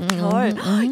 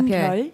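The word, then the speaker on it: 별: Pyeol. Your name is Pyeol. Yeah, Pyeol. Pyeol, yeah. It's just one syllable? Pyeol. Yeah, one syllable.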